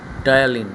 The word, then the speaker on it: ptyalin: কী বললাম নামটা? টায়ালিন। বানানটা অদ্ভুত। পি দিয়ে শুরু, PTYALIN। এই টায়ালিন উৎসেচক আর লালারসটা, এইটা ওই মুড়িটার সঙ্গে মিশবে, ম্যাস্টিকেট করবে, তুমি চেবাবে।